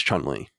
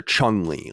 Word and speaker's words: Chun-Li: be a girl was chun-li although i called her chung-ly like with a g for whatever reason i didn't realize that i was saying it wrong when i was a